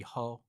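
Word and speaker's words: HAU: community for six weeks and that's how talk well I think we've been pronouncing that incorrectly it would be hoe instead of how trying our best we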